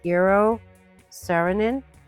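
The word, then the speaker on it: Eero Saarinen: don't know now you know I believe it's pronounced Euro serenin and he is Infamous born in 1910 he passed in 1961 yeah he was young only 51.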